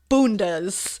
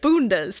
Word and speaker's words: bundas: Then hold on to your bundas. And thank you for the pronunciation. It says, you say it bundas. That's Portuguese for butts.